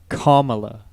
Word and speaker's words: Kamala: kamilah it's pronounced right good looking chuck it's pronounced kamala kamala oh like kamala huh see we got